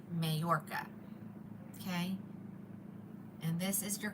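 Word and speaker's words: Mallorca: How do you spell it? M A L L O R C A. Mayorca.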